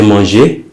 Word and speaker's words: mangée: la pomme que j'ai mangée. Same pronunciation, but you need to add an extra E.